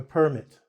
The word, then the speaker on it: permit: but I cannot permit you. And do you have a permit?